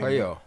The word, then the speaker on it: Puello: that he fought with Palou, how do I pronounce his name? Puello.